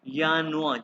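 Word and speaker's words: Januar: ये गौर से देखो ये लिखा यानुआ यानुआ आर जो है ना इसको आपने सेलेक्ट करना है यानुआ जब इसको प्रणा करते हैं यानुआ ठीक है इसको फेब्रुआ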